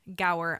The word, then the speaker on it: Gower: guest on today and his name is Brian go I hope I did not completely like just